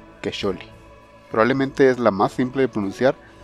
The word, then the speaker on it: Quecholli: Quecholi lleva el nombre del 14º mes del calendario azteca y está dedicado al dios de la caza Camaxtli.